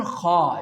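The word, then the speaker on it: خ: The letter kha, you know, it is the part of throat letters and it is pronounced from the upper part of our throat which is towards our mouth.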